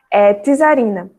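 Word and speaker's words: czarina: Tisarina. Apesar de ser escrito com SZ, a pronúncia é de um T, tá?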